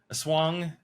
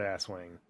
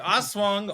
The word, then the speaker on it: Aswang: a-s-w-a-n-g a swap swing are we pronouncing it right first off like I did uh I did look I did look that up I'm at least as close as white people can pronounce it we're like highly confident it's not ass Wing no it's not ass